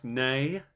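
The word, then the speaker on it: Neagh: Lachlund in Scotland and Lo Nay. NE A G H in Northern Ireland. Is it nay? Is that how you say it?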